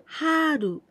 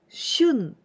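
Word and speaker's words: 春: joint Suga itades spring Haru Haru in oniyomi we pronounce shun especially used in the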